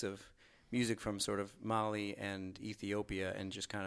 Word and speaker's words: Mali: Yeah, it's Mali Tigre, and it's sort of named for Mali, the country, even though it's spelled Mali, the person, and then Tigray, which